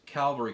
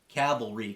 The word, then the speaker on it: cavalry: started out as a calvary carbine cavalry carbine sorry pronunciation police um then it was